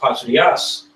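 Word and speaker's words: πατριά: With that word, when you go into that word kindred within that certain scripture, that word is pronounced patrias.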